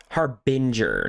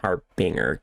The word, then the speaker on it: harbinger: essentially what Harbinger means Harbinger not our Binger gosh I pronounce it completely wrong I'm sorry for the